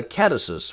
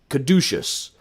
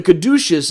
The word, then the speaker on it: caduceus: lot of these stylized versions of the catasys which i'm uh caduceus i never pronounced that right on the first try but the caduceus is this image of